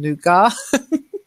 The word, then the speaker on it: nougat: Now, strangely, I usually say Nougat, but people get confused. So I'm using the French pronunciation Nougat. But as a Brit, I tend to say I like Nougat, but most people don't know what I'm talking about then.